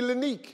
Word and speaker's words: Lineque: Give me Linique. Yes, sir. Linique, yes. Give me Stoof. See, if I look at your name, I know that's Linique. It's Linique, that's right. Yeah, but they phonetically spelled it for me and threw me off.